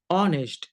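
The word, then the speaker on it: honest: कहिए एम ए ऑनेस्ट एच तो पढ़ते नहीं है। एच साइलेंट होता है।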